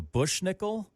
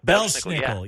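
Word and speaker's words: Belsnickel: Like my favorite one, I'll probably say it wrong, the Bushnickel? Belschnickel.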